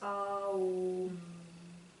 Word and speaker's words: Om: Remembering that Om is 3 syllables, Aum.